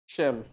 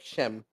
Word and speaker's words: Schim: Shim.